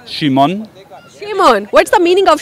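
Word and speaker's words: Szymon: It sounds like a shaman, but it's not a shame on. No, it's not sure. It's pronounced Shimon.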